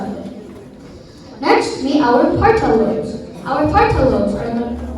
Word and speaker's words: parietal: You were correct, but those aren't the ways that you pronounce them. It's the frontal lobe, parietal lobe, occipital lobe, and temporal lobe, okay?